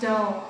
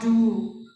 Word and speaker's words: dull: You have to pronounce dull, okay, not do. Okay, dull because it is static.